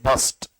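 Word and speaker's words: burst: Boom capsule फट गया ब्रस्ट नहीं बोलते बस्ट ब्रस्ट बस्ट नहीं क्या बोलते हैं? बस्ट आर साइलेंट बस्ट बोलते हैं।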